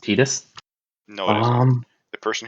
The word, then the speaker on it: Tidus: Other than that, it's pronounced Tidus.